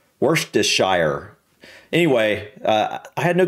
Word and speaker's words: Worcestershire: with Worcestershire sauce and It's Tricky pronunciation no kidding that's what works I can't even pronounce that properly worst worst just sure worst I've never been able to pronounce that sauce properly worse just sure worse just sure Worcestershire anyway uh I had